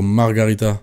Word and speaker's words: margherita: On dit une pizza margarita ou margherita? Vraie question, j'ai toujours dit margarita. En sachant que ça s'écrit margherita. Margarita. Ah ok, ben voilà, je l'ai bien dit.